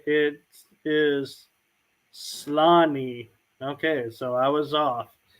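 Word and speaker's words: Sláinte: Is it pronounced Schlan?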